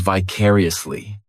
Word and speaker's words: vicariously: This adverb has 5 syllables, and the stress is on that second syllable. Vicariously. The third syllable. It's like that letter. I just has that E sound. And the 4th syllable has the schwa vicariously.